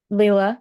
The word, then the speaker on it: Leela: Is this the correct pronunciation of your name? Leela, yes.